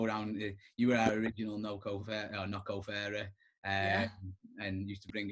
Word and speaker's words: NOCCO: You're saying how the Irish say it, but it's actually Nocco.